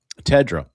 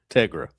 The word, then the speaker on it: Tegra: Now, I I asked It's like Tega, but with an R. Tegra.